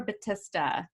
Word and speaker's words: Battista: with me batista is it batista or batista batista you got it right out of the